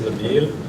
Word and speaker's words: Nabil: All right, you're going to have to pronounce the name Nabel. Is that right? The city or Jerry knows where Lower is. Yes. My name is Nabil.